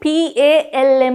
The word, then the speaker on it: palm: It's a silent letter. We don't pronounce that L.